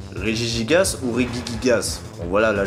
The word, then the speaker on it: Regigigas: explique pourquoi la prononciation du deuxième syllabe se prononcent de manière différente et du coup lorsqu'on rassemble ces deux partis ça donne régis gasse déjà je vais pas vous mentir que samaranch